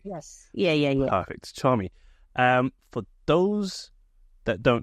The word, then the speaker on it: Charmie: asked this before we started recording it is Charmy but I'm pronouncing this correctly yes yeah yeah perfect charm me um for those that don't know you what